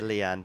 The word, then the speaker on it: Lian: So, let me see if I can get uh It's Leanne, right? To say your name. Yeah, Leanne. There are far more difficult names to spell on the Oh, to pronounce on the tour.